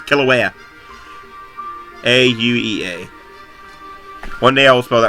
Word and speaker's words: Kilauea: you spell it and I think that I've learned that's how you pronounce to is Kilauea aue a one-day-old smell